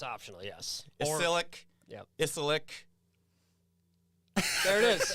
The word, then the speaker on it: Ysilik: It's just called Ysilik. Right. It's kind of Yeah, you could. You can do that. Yeah, we Yeah, kind of. the Y is optional. Yeah. It's optional. Yes. Ysilik.